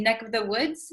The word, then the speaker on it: neck of the woods: area so um also when we say ne neck of the woods neck of the woods usually this of the V sound kind of disappears because V's are hard to pronounce so we tend to say NEC of the woods NEC this of becomes just the vowel sound uh neck of the